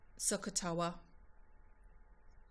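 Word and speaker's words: SOHCAHTOA: you might just remember sakatowa it said just how it's spelt or one of the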